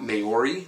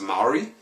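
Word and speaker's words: Māori: It's actually pronounced Maori. It's very phonetic, like you would pronounce Hawaiian or Japanese.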